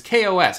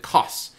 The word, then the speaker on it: Kos: island of coss greece it's kos i think you pronounce it coss at any rate let's